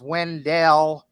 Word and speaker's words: Wendell: Wendell North Carolina and it is pronounced Wendell however it was named for Oliver Wendell Holmes don't ask me why um but it is wendelle and that's because there